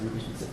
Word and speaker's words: Reuters: Yeah, I pronounce it Reuters.